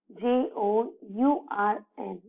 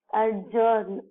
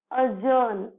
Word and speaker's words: adjourn: So the next is adjourn. So we pronounce it as adjourn. No, it is the wrong way. We should pronounce it as adjourn. Adjourn. Here the D is silent.